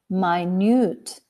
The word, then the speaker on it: minute: keep it going okay another homograph which if pronounced like minute refers to the unit of time right that's that simple but you can pronounce it also in this way my newt my nude means very small so that refers to